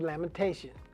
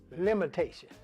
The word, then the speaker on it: Lamentation: And so I was teaching the kids how to say the book of Lamentation. And most of them were getting it right. And one young boy kept saying, limitations.